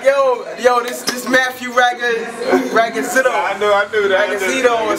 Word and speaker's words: Ragazino: Yo, before we get started, how you pronounce the last name? It's Ragazino. Ragazino.